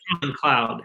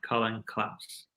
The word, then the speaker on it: Klaus: Not Colin Cloud, Colin Klaus.